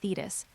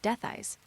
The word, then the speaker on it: Dethys: While it's not wrong to call me Thetis, my name is actually pronounced Dethys.